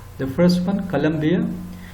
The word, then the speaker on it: Colombia: colombias the first one colombia it is a name of a country in south america it's a south american country and this colombia is the capital city of south carolina in the united states pronunciation is the same only the spelling is slightly different and now compare to